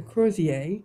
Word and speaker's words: crozier: And on a lady fern, the Crozier, that's how you say it, it sounds French, is an oval shape.